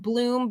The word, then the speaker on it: Blum: It's spelled Blum, Pamela. It may be pronounced Bloom, but we had this